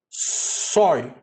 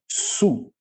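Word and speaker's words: σου: Mas a nossa leitura agora, com aquilo que a gente tem do nosso conhecimento, ficaria sói, né? Ficaria sói. Sigma, ômicron, y, né? Mas a pronúncia correta é su, tá?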